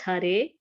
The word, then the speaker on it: Hare: The words Hare, pronounced Hare, Krishna, pronounced Krishna, and Rama rhymes with drama, are Sanskrit words.